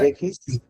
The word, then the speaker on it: j'écris: Pendant is ওইটা during, উচ্চারণ কি হবে? Parfois je kiss, parfois j'écris, j'écris.